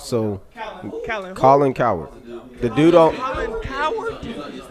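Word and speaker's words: Colin Cowherd: is Colin coward so Colin coward the dude Colin coward Colin coward coward that's that's how his name is pronounced it's c o w h e r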